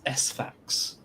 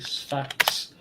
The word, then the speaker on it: Sfax: It's Sfax.